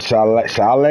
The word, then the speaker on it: Saleh: Kyle Shanahan, you got DeMarco Ryans, you got John Harbaugh, Arthur Smith for the Falcons, Peterson, you got Robert Saleh, that's how you say his name, Mike McCarthy at number 10.